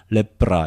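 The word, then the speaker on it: λέπρα: 레프라 이렇게 발음하고요.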